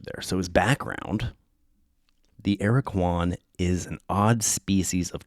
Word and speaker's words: Aracuan: The AIR-uh-kwan, pronounced AIR-u-kwan, AIR-uh-kwan. The what do they call that? The phonetic pronunciation of him is, his name is capital AIR dash U lowercase UH dash lowercase KWAN. The AIR-uh-kwan.